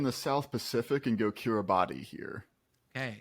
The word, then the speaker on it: Kiribati: I'm gonna stay in the South Pacific and go Kiribati here. Okay. It's Kiribati, by the way. It's what? It's weird. It's pronounced Kiribati.